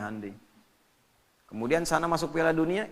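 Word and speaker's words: Hyundai: Jepang bikin Honda ya Korea bikin hundai hundai bacanya Handi kemudian sana masuk Piala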